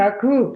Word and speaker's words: Kaku: How do you pronounce his name? Kaku.